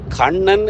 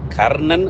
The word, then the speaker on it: கண்ணன்: அர்ஜுனா தொடர்பான ஒரு செய்தியிலே நாங்கள் கண்ணன் என்று கூறுவதை விட மகாபாரதத்திலே தேரோட்டி கண்ணன் பார்த்திபன் என்று கூறுவதை விட்டு நாங்கள் மாறி கர்ணன் என்று உச்சரித்து விட்டோம் கர்ணன் என்பது எங்களுக்கு தெரியும்